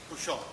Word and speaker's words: Bouchot: I believe it's Boucher or Boucher. I apologize for mispronouncing your name. Bouchot. Bouchot. Yeah, Mr. President, Mr. Councils. My name is Bouchot.